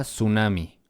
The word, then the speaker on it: tsunami: Pero se pronuncia tsunami. La T es muda.